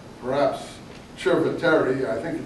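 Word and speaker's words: Chieti: like that uh anyway C in Italian is Chip it's not s in case you are wondering why you say chip uh in Chet or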